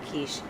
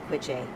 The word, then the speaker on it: quiche: just like uncultured moment used to call Keith uh kiche uh quiche like any rel that if you look at how it's spelled and if you don't know any better que so